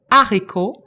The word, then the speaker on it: haricot: haricot, mais haricot, attention, le H n'est pas muet, le H est aspiré. Il faut donc dire, il y a un haricot, il y a des haricots. Le H de haricot n'est pas un H muet.